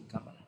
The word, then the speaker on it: Kamala: Creo que se pronuncia así, Kamala, como una esdrújula.